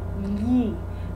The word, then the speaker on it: gli: The way it's spelled is G-L-I, li. But as you can see, there's no sound of the G there. G. You don't sound gli. It's li, a deep L.